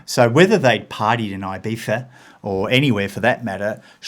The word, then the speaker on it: Ibiza: over there no well the Zed and the CZ sort of pronounced with a lisp yeah so Ibiza is correct right so